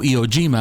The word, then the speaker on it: Iwo Jima: on this video in Iwo Jima, or Iwo Jima as we pronounce it in English, which is the Battle of Iwo Jima.